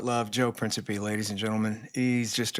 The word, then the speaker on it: Principe: Everybody, Joe Principe, not Principe. You're saying it wrong. Principe.